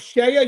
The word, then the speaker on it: CEIA: And we also have Shea USA. Now, by the way, it's spelled CEIA.